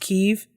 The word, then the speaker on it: Kyiv: How we're all figuring out that Kiev is not pronounced Kiev, it's pronounced Kyiv.